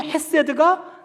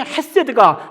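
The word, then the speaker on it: חסד: 다음에 인자하심 세이드 예 정확한 발음은 가래빗기 직전인데 그냥 대충하세요 그냥 그래서 핫세드라고 그러는데 그래서 하나님의 손품이 하나님의 토부와 하나님의 헤세드가 나를 따르리니 이제는 나를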